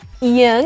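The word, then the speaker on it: 이응: Ieung itself does not have any sound we just pronounce the vowel which is added to Ieung lets see some words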